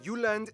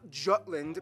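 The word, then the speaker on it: Jylland: proper danish context so denmark is made of the uland not jutland peninsula that connects to germany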